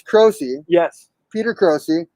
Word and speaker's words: Croce: That's like, my family Americanized the Italian pronunciation a lot, so you're like closer to the original. Oh, wow. Okay, so it's Croce.